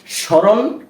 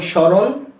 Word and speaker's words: স্মরণ: নিয়মটা জেনে নিয়েছি যে যদি কোন শব্দের প্রথম ব্যঞ্জন বর্ণের সাথে ম ফলা যুক্ত হয় সেক্ষেত্রে তার উচ্চারণটা হবে না যেমন স্মরণ স্মৃতি শ্মশান এ ধরনের